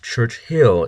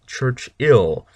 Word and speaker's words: Churchill: 11 Winston Church ill and yes it's not pronounced Church Hill it's Church ill uh because there's only one H uh after